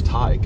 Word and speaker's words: Teague: I didn't pronounce Teague Montague right? No, because it's Tyke.